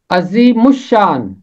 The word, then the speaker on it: عظیم الشان: ہے اردو ترجمے میں۔ اس کا تلفظ ہے عظیم الشان، عظیم الشان۔ عام طور پر پہلے